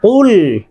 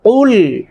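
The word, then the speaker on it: قُلْ: কুল, বলুন আমার সাথে, কুল। এটা কুল বললে হবে না, এটা মোটা করে বলতে হবে, কুল কুল ইয়া আইয়ুহাল ইয়া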